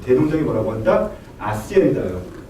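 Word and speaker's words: hacienda: 아시엔다요. 아시엔다가 스페인어는 H를 발음 안 합니다.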